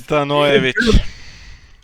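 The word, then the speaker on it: Stanojević: King in the North and half one, and Ivan Stanojovic. No, I you butchered butchered his that name so hard. Yes. Stanojevic.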